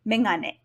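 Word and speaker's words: めがね: However, since the sound is not the first in the word, it should be megane.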